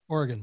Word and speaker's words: Oregon: There is Yeah, it's just pronounced Oregon. Organ. So O R G I N. Organ. Just like how like a like a kidney is an organ.